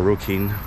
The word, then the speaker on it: Rokin: Right, well, to the train station, we're getting off at Roken, or Rokin, the way it's pronounced.